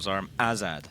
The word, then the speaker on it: Zarmazd: Zarmazad, I think we can go with. Nice. With I like that. You need to really enunciate the second syllable. Zarmazad.